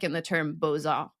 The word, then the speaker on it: beaux-arts: like in the term beaux-arts, which normally you wouldn't pronounce the X at the end of beau, but it's attached to the arts afterwards.